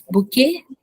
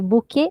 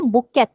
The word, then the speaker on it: bouquet: bunch of flowers exactly bouquet a bunch of flowers now everyone notice Suman did not pronounce the last letter she didn't say bouquet which is how we speak most of our English let words okay this word is